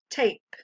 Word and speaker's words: tape: This word follows the long A, silent E pattern. Then I whisper or read the sound A. I place the word under the ape. Finally, I read the word tape.